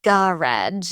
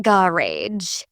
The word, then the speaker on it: garage: The word garage is often said as garage in British English, not garage. That softer ending gives it a more elegant sound.